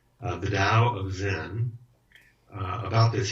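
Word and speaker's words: Tao: which I think is is it the tow or the DA they say it like a a d is a oh do they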